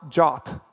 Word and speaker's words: JWT: is pronounced like the Greek letter Omega it's pronounced jot and I know some people call it jot